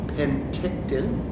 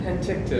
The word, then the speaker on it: Penticton: to spell it is you start with a pen that you write with, and then you have a tick, okay, like you get in your hair, and then a ton, which is a weight.